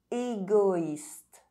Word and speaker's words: égoïste: With OI, the diuresis on the letter I indicates that you must pronounce each vowel separately. Égoïste, héroïque.